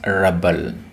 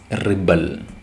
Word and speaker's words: rebel: be a rebel rebel when we used this word as a noun or an adjective we pronounced it as rebel but when we used it as a verb we pronounce it as rebel rebel rebel and rebel